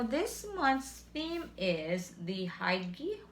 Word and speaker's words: Hygge: Okay, now this month's theme is the Haigi Huga, because it says here Huga, but this is spelled Hygge, and let me show you so you'll see it.